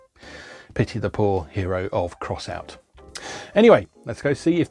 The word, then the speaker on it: X-Out: the loading screen that you're supposed to pronounce it's crossout not x out as i always assumed